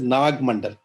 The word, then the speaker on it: Naga Mandala: The play Naga Mandala, which we pronounce as Nag Mandal, is based on folk tales about Naga.